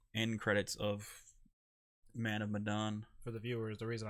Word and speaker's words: Medan: Man of Medan.